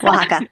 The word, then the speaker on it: Oaxaca: Did I pronounce that right? Yes, Oaxaca.